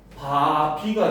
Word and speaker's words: 밥이: 근데 발음을 하면 어떻게 돼? 그치? 발음을 하면 바비가 되잖아.